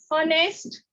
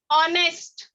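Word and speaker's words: honest: ये एच जो है लिखने के लिए है, लेकिन बोलने के लिए नहीं है, ये साइलेंट लेटर में शुमार होता है। तो यहाँ पर हम इसको डायरेक्टली पढ़ेंगे ऑनेस्ट, आर, ऑनर, यानी ये डायरेक्टली शुरू किससे हो रहे हैं? वॉवेल साउंड से। इसके लिए इसके पहले हम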